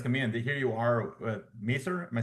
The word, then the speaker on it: Maseer: Here you are, Maser. Am I saying it correctly? Master, Masir, Masir. So it's Masir. based Oh, off of like in seer, Arabic, like all okay, Masir Masir. is Okay, like destiny.